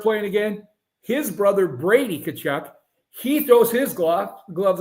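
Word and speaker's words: Tkachuk: one of them uh Matthew kachuck kachuck Puck yep it spelled with a t anyway gloves off fighting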